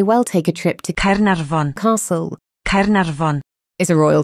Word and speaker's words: Caernarfon: Instead, the letter F is said like a V, and the letters FF together are pronounced as an F.